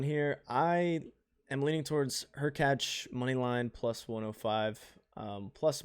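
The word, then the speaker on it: Hurkacz: Is it Hercax and Musetti? Her catch. Her Hercatch.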